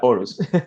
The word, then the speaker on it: Aarhus: Pero, Como te digo, las dos A son como una O sorprendida aquí, así que no. ok, la Horus.